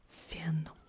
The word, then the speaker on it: фен: Then I have the word фен. This one I get mixed up. I still use it sometimes instead of the English word for it. So fan sounds like fan.